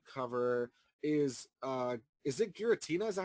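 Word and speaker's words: Giratina: we're going to cover is uh is it gutina is that how you say it yes gutina yeah gutina and the Sky Warrior and for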